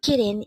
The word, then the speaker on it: 기린: How do we write kirin in Hangul? This is composed of two syllables.